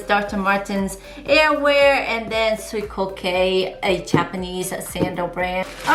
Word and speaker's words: Suicoke: dr martens and collaboration with soy cocay i believe that's how you say it this is the box right here it says dr martin's airware and then sweet kay a japanese sandal brand